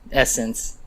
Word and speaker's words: ESSNCE: I would say, I'm promoting, of course, Essence. It's spelled ESSNCE.